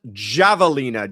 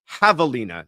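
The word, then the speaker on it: javelina: let you know is the corrected pronunci of Havalina. It is not Javalina, Joshua. It's Havalina.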